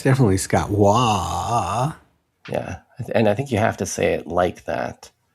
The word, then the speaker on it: Waugh: Yeah, it's definitely Scott Waugh.